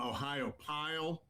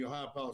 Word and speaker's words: Ohiopyle: park in Pennsylvania, um Ohiopyle. And everybody kind of gets that I don't know how to pronounce it, but it's Ohio like the state and then p y l e all one word.